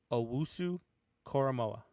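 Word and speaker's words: Owusu-Koramoah: You want me to pronounce it for you? Go ahead. Owusu Koromoa.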